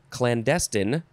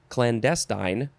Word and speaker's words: clandestine: Next we have, okay, you can say this a bunch of different ways. Clandestine, clandestine, clandestine, or you can emphasize the first syllable, so it would be clandestine, and then also the different endings. Clandestine, I like to say, what do I like to say? Clandestine, I'll say that. Okay, this is an adjective from circa 1528.